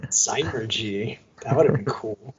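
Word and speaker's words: Zymurgy: No, actually we said it right, Zymergy.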